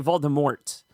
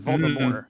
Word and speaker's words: Voldemort: that last 20 seconds he didn't say Voldemort he said for me more that's right silent in case nobody knew